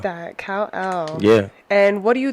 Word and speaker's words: Kal-El: Kal-El.